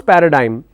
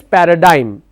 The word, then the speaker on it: paradigm: or how to pronounce paradigm so the pronunciation is Paradigm g is silent d i m is pronounced as if diim dime Paradigm so you learned how